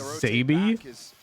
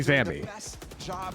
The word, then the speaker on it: Zammy: Like if somebody mispronounces Zammy as Zaby, that's their fault because it's clearly Zammy.